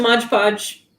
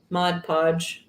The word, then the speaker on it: Mod Podge: and you'll need some modge podge mod podge why do i say it like that um i don't know